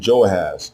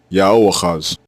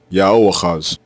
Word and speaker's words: Jehoahaz: There is also no such thing as the name Joahaz or Yehoahaz or Jehoahaz. This name is spelled two different ways in ancient Hebrew. One way is with the letters Yah and Wah as the prefix diminutive form. Another way is with the letters Yah, Ha, and Wah as the prefix diminutive form. Both forms are pronounced the same way, Yahoahaz, Yahoahaz, and it means Yahweh takes.